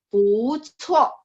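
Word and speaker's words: 不错: Bu cuo. Cuo, karena C, bacanya ada angin ya.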